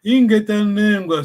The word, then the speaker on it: Ingetanengwa: Attention, prononcez bien Ingetanengwa. Ça, ce qui Congo, c'est doux, hein, c'est pas. Ouais. Bon. C'est pas agressif.